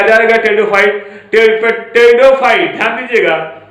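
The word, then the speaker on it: Pteridophyta: टेरिडोफाइट PTE टेरिडोफाइटा PHYT, इसको पोटैटोफाइटा मत पढ़िएगा, रीजन उसका यह है पी साइलेंट है।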